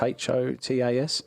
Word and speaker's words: HOTAS: the thrustmaster ho hotus i think it's pronounced hotus h-o-t-a-s yeah hotas yeah yeah yeah and i've